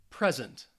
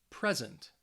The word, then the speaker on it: present: nouns first right here so the stresses on the first syllable present present object object conduct conduct so you should be able to hear the stress on that first syllable now if we are